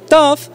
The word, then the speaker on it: TUF: TUF Su pronunciación se parece mucho a otra palabra en inglés, que significa rudo.